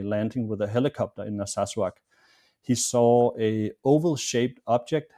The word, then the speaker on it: Narsarsuaq: local pilot from a town called, is it Narsarsuaq in southern Greenland? Narsarsuaq, yeah. Yeah, it's a difficult name to pronounce, but yeah, it's Narsarsuaq.